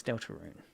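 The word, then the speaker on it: Deltarune: Del Tarun Pokemon and Sonic the Delta Delaroon. Delarun. How do you say in English? Um, what is fans? Delta Rune.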